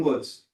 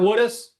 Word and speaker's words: Woods: All right, Your Honor, we're ready for, I got the name right on this one, Woods. Did not mispronounce this one. It's not Woodis?